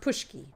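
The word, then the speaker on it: pączki: crackers pushki pushki okay the donut is pronounced pushki perogies so yeah so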